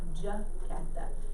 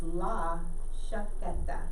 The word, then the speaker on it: chaqueta: to say chaqueta, not jaqueta. In English, we say jacket. Okay, so I have a lot of students that want to say jaqueta, but it's not. It's la chaqueta. It has a sh sound.